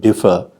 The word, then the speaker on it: differ: differ you could explain why the word differ has stress on the first syllable and this way of